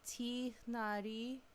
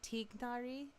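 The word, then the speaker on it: Tighnari: It's literally Tinari, but GH doesn't exist in English, so it's perfectly fine to say Tignari.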